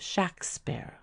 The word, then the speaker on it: Shakespeare: is good proof that the pronunciation of the first syllable was short and sharp and that the Warwickshire patois gave it the sound of shack sparrow in the earliest entries